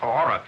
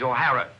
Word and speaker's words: O'Hara: do you remember saying my name is not aura it is o'hara here mr o'hara yes